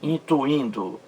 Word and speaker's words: intuindo: E a outra palavra, na alternativa A, veja aí, intuindo. Olha a separação silábica. Intuindo. Intuindo. Mais forte aí, penúltima sílaba. Nesse I aí, no segundo I.